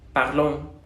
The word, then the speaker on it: parlons: La O se va a pronunciar como una O, incluso como una U. Es como una O nasal. Parlons. Nous parlons au québécois, ¿no? Parlons. Y se hace ese diptongo como en sonido de O-U.